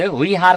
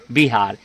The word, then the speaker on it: विहार: उत्खनन किया, तब उस सही शब्द विहार का सही से प्रोनाउंसिएशन नहीं करके बिहार BIHR तब से आज तक जो है ना उसका अप्रभंश यानी ब्रोकन फॉर्म में BIHR लेटर से जाना जाता है, यानी विहार का मतलब बौद्ध मठ।